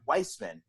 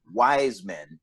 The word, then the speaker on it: Wiseman: and do it wiseman or i should say weissman i i should correct everybody it's pronounced weissman not wise men gotcha but uh but weissman he's he's the